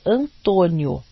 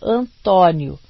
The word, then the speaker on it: Antônio: Repetiam que fora registrado no consulado brasileiro e era Antônio ou Antônio, como quisessem, a pronúncia do primeiro O a escolher.